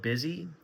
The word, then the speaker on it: Bizee: But I do recommend setting up an LLC, and I recommend doing it with a company called Busy. It's spelled Bizee, and I've used them in the past, and they make it super easy to set it up with.